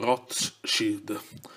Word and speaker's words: Rothschild: Quindi Rothschild si pronuncia appunto Rothschild, cioè una piccola pausa in mezzo a Roth e Shield.